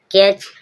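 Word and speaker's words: catch: क्या रहेगा साइलेंट रहेगा और टी के बाद सी एच आएगा जब भी टी साइलेंट रहेगा कैच कैच मींस पकड़ना फेंच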